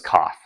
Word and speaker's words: coth: And cosech and and uh I guess the only weird one is coth. You do I do use a th there.